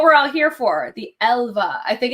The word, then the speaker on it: Älva: Okay, I'm pronouncing it right. Thank you, Mandy. Yeah, I'm like, I think it's Älva.